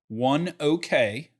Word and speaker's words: ONEOK: this morning on CNBC driving in one okay that's how they pronounced it one okay bought Magellan